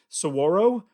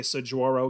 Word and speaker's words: saguaro: I think it's pronounced saguaro, but I always make fun of it and say saguaro because that's literally how it's spelled.